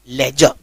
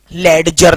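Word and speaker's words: ledger: 2 में, which is called as लेजर, लेडजर नहीं। ठीक है, डी को लिखा जाता है लेकिन प्रोनाउंस नहीं किया जाता, इट इज आर को भी नहीं प्रोनाउंस किया जाता है।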